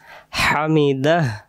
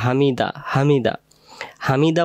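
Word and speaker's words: حَمِدَهُ: পড়ার তাহলে আমরা বলব সামি আল্লাহু লি মান হামিদাহ হামিদাহ হামিদাহ এটা শ করে পড়ব হামিদাহ আমরা অনেকে বলি হামিদা হামিদা হামিদা পড়লে এই হা অক্ষরের উচ্চারণটা কি বাদ চলে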